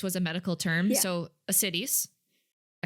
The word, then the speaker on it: ascites: So ascites. I said it right? Yes, ascites.